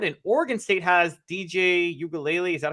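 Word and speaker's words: Uiagalelei: Washington State has a Heisman candidate at quarterback in Cam Ward, and Oregon State has DJ Ugalele. Is that how you pronounce his last name?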